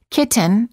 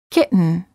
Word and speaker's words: kitten: or written say written don't say kitten or kitten say kitten words for practice